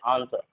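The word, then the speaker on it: answer: उसके बाद एस के बाद भी अगर डब्ल्यू होता है तो डब्ल्यू साइलेंट होता है, ये बात ध्यान रखना है। जैसे इसे हम पढ़ते हैं आंसर, आंसर, इसे डब्ल्यू का, यहाँ पर डब्ल्यू क्या है, साइलेंट है, आंसर पढ़ते, इसे पढ़ते शॉर्ट।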